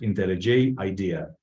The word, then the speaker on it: IntelliJ IDEA: IntelliJ, that's the IDE that I'm going to use, is pronounced IntelliJ IDEA.